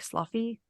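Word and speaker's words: Sloughi: of other breeds well it's spelled s-l-o-u-g-h-i is that not like sluffy it sounds like a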